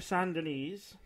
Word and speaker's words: Saint Denis: I was riding back to Saint Denis. And, rhymes with penis.